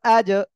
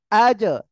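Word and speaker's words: أَجْ: জিম কোন জায়গা থেকে উচ্চারণ হয়? জিহ্বার মাঝখান তার বরাবর উপরে তালুর সঙ্গে লাগিয়ে উচ্চারণ হবে। যেহেতু সাকিন রয়েছে আর কলকলার অক্ষর, ওই জিহ্বার মাঝখান কি হবে? তার বরাবর উপরে তালুর সঙ্গে শক্ত আকারে ধাক্কা লাগবে, লেগে উচ্চারণ হবে, আজ, আজ।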